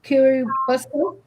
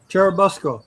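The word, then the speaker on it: Churubusco: and living in I'm going to try and pronounce this because you know the word I'm going to try and say kuruco churabusco churabusco Charles workman was involved in bootlegging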